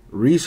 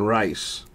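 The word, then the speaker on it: Rhys: Freddy Peralta Brewers Auto Reese Hoskins - 49 Sherpa relic for the Phillies or at least that's how they tell me to pronounce his name I've been saying rice apparently it's Reese tomato tomahto right Adrienne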